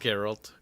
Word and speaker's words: Geralt: I mean, his name is Geralt, because I'm pretty sure it's pronounced Geralt.